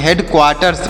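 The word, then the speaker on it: headquarters: तोसे पढ़ेंगे हेड C sorry Q यू ए से पढ़ेंगे क्वा क्यू यू ए से क्या पढ़ेंगे क्वा पढ़ेंगे ऐसे क्य यू ए से क्वा पढ़ेंगे आर से पढ़ेंगे र आर से र और टी से पढ़ेंगे ट और र ऊपर लगाया जाएगा तो हो गया क् क्वार्ट और ई से पढ़ ई आर से पढ़ेंगे र और देखिएगा एस से पढ़ेंगे स तो इसे पढ़ेंगे हेड क्वार्टर्स पढ़ेंगे ऐसे पढ़ा जाएगा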